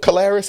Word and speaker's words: Caleres: Yeah, y'all CEO of Caleres.